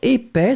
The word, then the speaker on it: épais: Épais, so masculine form, remember, E accent aigu, P-A-I-S. Final S not pronounced.